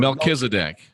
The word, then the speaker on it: Melchizedek: direction of the order of I can never pronounce this word. Melchizedek.